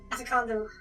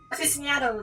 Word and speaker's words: aficionado: Could be anyone from military field surgery to an antique medical afficondo. Did I pronounce that word? Aficionado, there we go. Jeez. C's threw me off a bit.